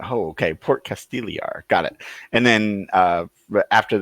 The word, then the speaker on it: Castigliar: casted Gil we are the G is silent Casteel er oh the G silent oh okay Port Castile er got it and then